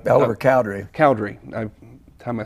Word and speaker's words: Cowdery: Cowdery.